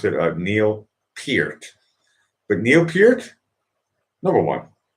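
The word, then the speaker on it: Peart: look i think in canada you're supposed to pronounce it uh neil pierce but neil pierce number one neil pierce uh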